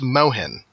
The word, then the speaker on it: Mohin: It is pronounced Mohin. It's Irish. And I'm just going to interrupt to say, you are not an ass.